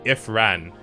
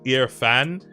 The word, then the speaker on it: Irfan: but in that video, I kept calling him Ifran. When I was editing it, I saw that his name was actually Irfan, and I always think to myself, bruh, like, I pronounced his name wrong the whole time.